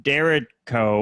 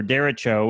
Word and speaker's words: derecho: her anxious is the i believe it's pronounced the dereko or derecho which i looked up